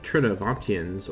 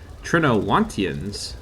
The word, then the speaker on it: Trinovantians: So, last time we finished defeating the Trinovantians, or should I say, Trinowantians. My V pronunciation has been lacking once again. Sorry about that, but can't be helped. It is a bit of a weird pronunciation rule that I often forget about, but I'll try and